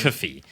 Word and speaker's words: K-Fee: yeah, between Aldi and K-Fee, which is assumedly supposed to be pronounced system. Coffee.